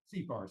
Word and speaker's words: CFAR: So is it CFAR? Is that how you're pronouncing it? CFAR. So there's an adage in Rwanda: if you see far, you go far.